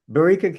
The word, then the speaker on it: Barika: Barika, can you tell me how to say your name correctly? You're saying it correctly.